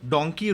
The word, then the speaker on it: donkey: ओके, तो वो लोग डोंकी रूट प्रेफर करते हैं. डोंकी root is illegal root two England. ओके. सो डोंकी को ये लोग डंकी प्रोनाउंस करते हैं.